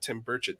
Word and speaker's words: Tim Burchett: I think we're going to get more senators to join us and have a conversation like Tim Burchett did. Am I pronouncing his name right?